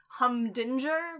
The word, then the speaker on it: Humdinger: his name is Hubert hunger but his name is spelt humdinger and the whole time